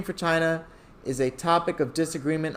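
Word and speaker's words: Qin: the original name for china is a topic of disagreement among scholars some people think that it that the word came out of quinn china's unifying dynasty pronounced chin and other others think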